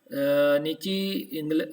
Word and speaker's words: niche: निश बेटा जी, नीची ब्रिटिश इंग्लिश में कहते हैं, अमेरिकन इंग्लिश में निश कहते हैं।